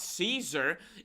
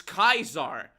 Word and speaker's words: Caesar: And I can also speak a little bit of Latin and I can assure you it's not Caesar, it's Kaisar.